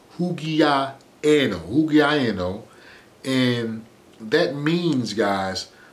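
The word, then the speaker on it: ὑγιαίνω: Bible, and that is word G5198, and it's pronounced hugiaeno, hugiaeno, and that means, guys, uncorrupt and healthy mind.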